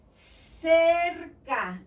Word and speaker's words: cerca: But if I mix it with E or I, it sounds cerca, that means near.